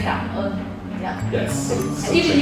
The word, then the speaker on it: cảm ơn: But you can say cảm ơn.